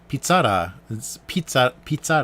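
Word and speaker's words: Pizza-La: So pizzara is kind of the domestic Pizza Hut, like the domestic pizza restaurant in Japan, and pizzara is how it's supposed to be pronounced, and I'm not sure.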